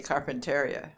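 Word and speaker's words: Carpentaria: Only they say Carpinteria. And they spell it differently.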